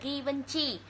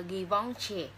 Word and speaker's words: Givenchy: Mình đọc tiếng Việt là Givenchy, nhưng mà đọc đúng tên của nó theo phiên âm mà người ta hay đọc là Givenchy.